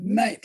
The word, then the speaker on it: knight: that that that that knight like a guy with a sword is spelled the way it's spelt it has a k we don't pronounce it but it is okay